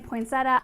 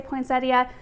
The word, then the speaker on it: poinsettia: I know a lot of people from the Midwest say poinsettia. There is an I in the word, but I think over time that I has kind of been dropped.